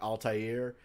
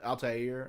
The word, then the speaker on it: Altair: I said earlier that the proper pronunciation of this would probably be more like Altair.